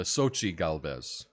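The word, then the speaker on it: Xóchitl Gálvez: so um yeah anyway sounds like Sochi Sochi thank you I uh I I I I wasn't sure how to say her name but it's a Sochi Galvez thank you Yuri fairy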